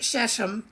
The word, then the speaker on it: Shechem: If you will recall in the Bible, the prophets of Baal cut themselves, and also the people of Shechem, and I've also heard it pronounced Shechem, worshipped Baal, and they also cut themselves.